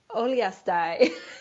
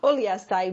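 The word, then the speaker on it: Uliastai: More background, we learned that Tomás lived in, he told me how to say this. You're going to have to help me. Oliastai. That's just fun. Oliastai, Mongolia, as a member of the U.S.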